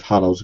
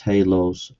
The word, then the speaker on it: halos: Radioactive hallows. Good grief. It's pronounced halos.